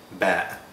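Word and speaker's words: باء: the alphabet is ba ba ba is pronounced like the letter b in english it's a bilabial voiced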